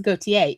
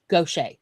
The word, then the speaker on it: Gautier: And there is Gautier, Mississippi, but it is not pronounced Gautier. It is pronounced Gaucher.